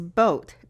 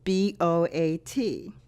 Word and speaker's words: boat: the fifth word is boat boa T when vowels are adjacent the first vowel is long and the second vowel is silent let's look at this